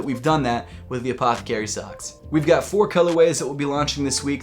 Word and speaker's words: APTHCRY: And although it's pronounced Apothecary, we actually shortened it to Ath Cry Y because we thought it looked cool.